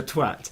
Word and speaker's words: Twait: Twait there?" At which point the guy says, "Oh, it's me, it's pronounced Mr. Twat."